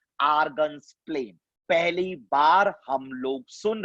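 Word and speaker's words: Argand's plane: पहली बार सुना होगा डी इज साइलेंट, क्या बोलते हैं बच्चा? आर्गन्स प्लेन।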